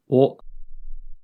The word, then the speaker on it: を: The next character we'll learn is o, o, o. Note that o is usually romanized as wo, but it's pronounced o like the o vowel sound.